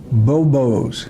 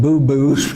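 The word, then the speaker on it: buboes: And the reason it's called bubonic is they're bobos, not boo-boos.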